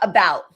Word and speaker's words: about: A schwa vowel is not stressed. It's unstressed. Okay, so we've got about, right? About. Right? I don't say about. I don't say about. I say about, right?